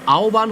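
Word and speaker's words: আহ্বান: যদি এগুলো আসে তাহলে আমরা পারব আহবান এটা আওবান হল কেন শুরুতে আছে এজন্য হটা হয়ে যাবে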